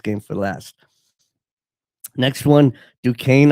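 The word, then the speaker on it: Duquesne: for last next one du Kane I believe is how you say it versus Illinois I mean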